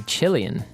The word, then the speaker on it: Chilean: Some people say Chilean. So I don't know, I guess the accent varies a little bit.